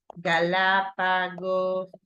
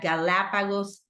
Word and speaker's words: Galapagos: right so you have Galapagos what there you go so it's no Galapago Galapagos Iceland but Galapagos Island like this I land okay